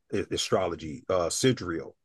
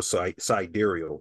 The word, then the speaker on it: sidereal: Astrologically, I would tell people to study Vedic astrology, sidereal or sidereal. Some people pronounce it that way.